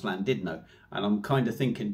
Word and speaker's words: Llandudno: Now, I don't know if Didno, whether it's supposed to be said like that, because you say Llandudno is actually pronounced Llandudno.